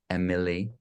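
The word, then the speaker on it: Emilie: we'll check her out at emperor yeah and it's spelled e-m-i-l-i-e Emily yeah and then Nicholas you'll find it if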